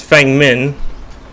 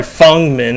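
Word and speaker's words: Feng Min: in the trees there's Fang min oh sorry fungmin as her name's apparently pronounced what the vision down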